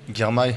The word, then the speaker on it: Girmay: On prononce d'ailleurs comment, Girmay ou Girmay? Girmay, ouais. Il dit Girmay, hein. Ouais. Oui, je ne sais pas pourquoi la télévision ils disent Girmay.